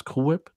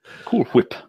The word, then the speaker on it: Cool Whip: thing they do with Stewie doesn't pronounce cool hwhip the way we all do he puts emphasis on the H but as I say